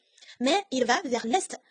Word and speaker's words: est: 候 st 是要发音的， l'est 东面，l'ouest 西面，那南